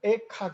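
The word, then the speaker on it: אֵיכָה: 그래서 히브리 말로 슬프다 하는 말을 히브리 말로 뭐라 그러면 에카 그러면 에카. 우리나라 에가하고 발음이 비슷하죠?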